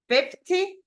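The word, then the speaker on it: fifty: right here 15 and if we say 50 distress goes in the first syllable so this one is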